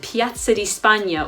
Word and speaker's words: Piazza di Spagna: Fontana T groovy but the Spanish Steps is Piazza di Spagna or Spain square now while you may not